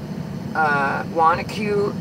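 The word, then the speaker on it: Wanaque: I told you about the recurring dreams, and if anybody did look up Wanacue Reservoir UFO sighting, I'll spell it again, W-A-N-A-Q-U-E, Wanacue, New Jersey, Reservoir UFO sightings, 1967.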